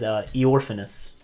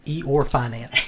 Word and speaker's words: Eorphanus: His name is Eorphanus. That is a wizard name. Good luck writing that down. Oh shit. Spelled like Eeyore. Eorphanus? Yes. E or finance.